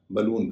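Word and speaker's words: balloon: इसी से बनने वाला बी A double L double O एन उसे बलून नहीं कहते बलून कहते कारण है स्ट्रेस स्स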